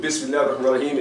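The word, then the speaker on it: بسم الله الرحمن الرحيم: So the proper pronunciation of Bismillaahir-Rahmaanir-Raheem is Bismillaahir-Rahmaanir-Raheem. Okay? All these elongations.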